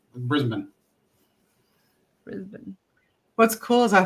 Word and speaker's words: Brisbane: I know I've heard it's not brisban it's brisban right right okay I was the one that was pronouncing that wrong every time every time I still I still fall back to it but I catch myself and then nope no Brisbane Brisbane what's cool is